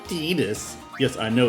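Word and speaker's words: Tidus: And actually, it's Tetus. Yes, I know it's Tetus, but I don't like that pronunciation. So, it's going to be Titus.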